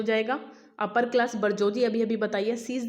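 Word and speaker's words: bourgeoisie: और the upper class को बरजोजी कहा जाता है। क्या कहा जाता है? अपर क्लास को। ये इंपॉर्टेंट स्पेलिंग है, इसको ये मतलब इंपॉर्टेंट फॉरेन एक्सप्रेशन है, इसको भी याद रखिएगा।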